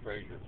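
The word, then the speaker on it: Fraser: F-R-A-S-E-R, pronounced Frazier.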